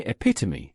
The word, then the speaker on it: epitome: In epitome, you'll find a total of 4 syllables. A. P. 2. Me. Epitome.